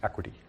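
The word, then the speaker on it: equity: बेटा आप पहले प्रोनाउंसिएशन में ना, इट्स नॉट इक्विटी इट्स एक्विटी।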